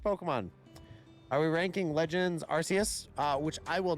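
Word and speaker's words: Arceus: you to pronounce it if that's how they wanted you to pronounce it they should have spelled it with a k Legends okay love that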